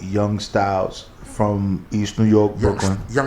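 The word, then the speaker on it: Young Stylzz: Not like, and this particular song is from an artist called Young Styles from East New York, Brooklyn.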